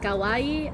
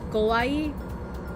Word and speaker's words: kawaii: Like, a common mistake, like, English speakers try to speak Japanese will make is accidentally pronouncing kawaii as kawaii, because depending on your accent and where you are in America, you might pronounce your A's as O's, or your O's as A's.